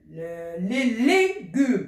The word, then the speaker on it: légumes: Les légumes, il est fermé.